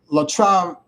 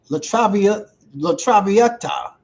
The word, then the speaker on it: La Traviata: Let me pronounce this correctly. It's called La Traviata. La Traviata.